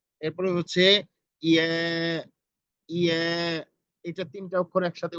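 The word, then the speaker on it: ي: এরপরে হচ্ছে ইয়া ইয়া, এটা তিনটা অক্ষর একসাথে উচ্চারণ হয়, জিম শিন ইয়া, এবং ইয়াটা খুব শক্তভাবে উচ্চারণ হবে, ইয়া জিম শিন ইয়া জিম শিন ইয়া।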